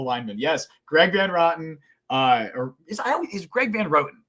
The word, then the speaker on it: Van Roten: Yes, Greg Van Roten, is Greg Van Roten, right? Greg Van Roten. I think it's Rotten. It's Greg Van Roten.